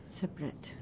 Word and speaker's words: separate: Separate, yeah. And this A is pronounced? A. Separate. Schwa. It's not rate, no? Yeah, separate. No? You have rate, which is A. Right. And here is schwa, separate.